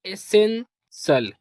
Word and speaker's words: essential: ई से पढ़ेंगे ए। और जहां पास भी एक वर्ड दो बार लिखा होता है तो उसे सिंगल प्रोनाउंस करते हैं। SEN इसको पढ़ेंगे सेन। और TIAL इसको पढ़ेंगे सल। क्या पढ़ेंगे? सल। तो ये हो जाएगा एसेंसल।